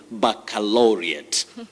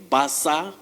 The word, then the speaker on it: baccalaureate: international schools alberti and the correct or acceptable pronunciation of this word is baccalaureate baccalaureate so you don't say basa yes you say baccalaureate and one of the